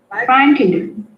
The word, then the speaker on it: frightened: So you pronounce it as only 2 syllables, frightened.